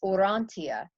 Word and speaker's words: Urantia: It's a Urantia, Urantia. Urantia. The book of Urantia. Interesting though, when you talk to other people or you go online, they say it's Orantia. And if it's Orantia, then it means or, it's light.